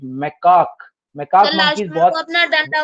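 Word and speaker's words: macaque: इनको बोलते हैं lion tail मैकाक, the pronunciation is मैकाक।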